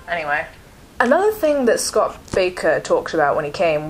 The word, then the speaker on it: Bakker: lecture from scott batter baker it looks like it's spelled backer but it's not don't be fooled b-a-k-k-e-r it's apparently spelled baker don't ask me we've